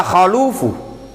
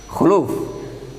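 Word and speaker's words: خلوف: Wala khalufu. Bacanya khaluf atau khuluf? Hah? Yang tepat khaluf atau khuluf? Hah? Khuluf atau khaluf? Khuluf.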